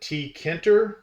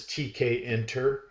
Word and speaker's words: Tkinter: and and that's the some people um pronounce it TKER uh but the proper pronunciation from IT people that use it in data science etc. etc. is TK enter um and that is